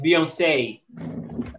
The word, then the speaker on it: Beyoncé: But in this case of only one E, you don't pronounce, or you pronounce as A, like Beyoncé.